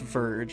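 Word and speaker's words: Vierge: Yeah, I think it's pronounced Verge, right? Verge. Like Durge.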